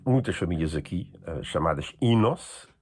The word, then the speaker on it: Enos: para torná-la curta, afinal, o Inos, escrito Enos, pronuncia-se Inos. Inos não é mais do que a transcrição fonética.